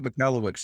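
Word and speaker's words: Michalowicz: Pumpkin Plan, Michael McCallowitz, is that how you say his name? You probably Mike McNelowicz, yeah.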